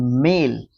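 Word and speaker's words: Malé: south Asian country है capital की बात करें तो माले है देखो मेल और माले की स्पेलिंग सेम है भाई इसलिए कंफ्यूजन हो गया था वहां पर करेंसी की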